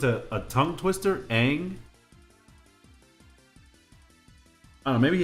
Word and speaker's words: Aang: And his name was Ong because Shyamalan couldn't pronounce Aang. I don't know how it doesn't sound like it's a tongue twister. Aang.